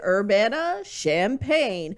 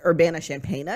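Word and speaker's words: Urbana-Champaign: the university of illinois urbana champaign which i always want to pronounce urbana champagna because i just feel like that would be better but oh i see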